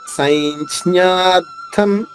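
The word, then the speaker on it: సంజ్ఞార్థం: అంటే 2 జ్ఞాల మధ్యలో జ అనే అక్షరం ఉంది. సైంజ్ఞార్థం, సైంజ్ఞార్థం 2 జ్ఞాల మధ్యలో జ పలకాలి. సైంజ్ఞ, సైంజ్ఞ ఇలా రావాలి.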